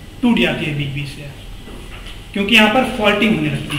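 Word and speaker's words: Tsangpo: Senco river, T silent TSANGTO, ठीक है।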